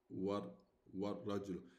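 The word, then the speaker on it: والرجل: Now ra is a solar letter. Ra is a solar letter. So the al here, the lam, we won't pronounce it. We go from wow directly to ra, because ra is a solar letter. So we don't pronounce the lam.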